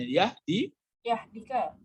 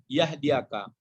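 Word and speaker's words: يهديك: Jadi apa bacanya? Yahdika. Bukan. Ini kalau ya baris di atas hidup dia. Yahdiaka. Bukan yahdika lagi.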